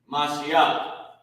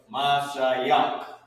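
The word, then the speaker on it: משיח: So the sacrifice, and then lamb, and then Mashiach, to say Christ. Masha, Yah, and Cha connected. Mashiach, right?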